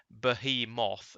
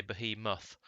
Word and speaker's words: behemoth: thing on the way google says the difference between an english and american pronunciation is that english say bahi moth and americans say behemoth so it's basically the